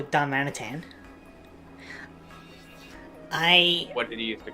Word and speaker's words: Darmanitan: Darmanitan.